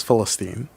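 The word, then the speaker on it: فلسطين: rights organization and the the Arabic pronunciation for Palestine is Philistine and I was like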